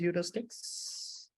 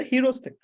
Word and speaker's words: heuristics: So it's just like the way you pronounce hero and stick. We do not say heuristic. We cannot say that. Yeah, hero stick.